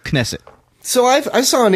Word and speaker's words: Knesset: a correction that uh knesset wasn't knesset you're saying it was nesset but I was looking up a online dictionary pronunciations of it oh I did talk about this already I'm sorry folks well what did you conclude uh I think I'm at it's knesset but with a with a quick k